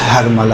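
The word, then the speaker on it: حرملہ: یقینی طور پہ ہرملہ۔ دیکھیں اصل تلفظ ہرملہ ہے، جسے ہم لوگ اپنی زبان میں ہرملہ کہتے ہیں، صحیح؟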